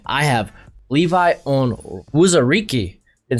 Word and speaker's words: Onwuzurike: At 5, I have Levi Onwuzurike. Been saying this name wrong for like last year.